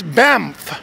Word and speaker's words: Banff: It's Banff Community High School. That's Banff. That's today's pronunciation tip.